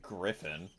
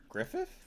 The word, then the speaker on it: Griffith: Uh, you've watched I mean Griffin, but that's kind of like a name wrong. But yeah, Griffith, you said I call him Griffin,